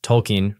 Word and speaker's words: Tolkien: Moments later, he rattled off a roll call of canonical British writers: Shakespeare, Dickens, Tolkien, pronounced like a coin, Lewis, Orwell, Kipling, as though name-checking a syllabus could stand in for a worldview.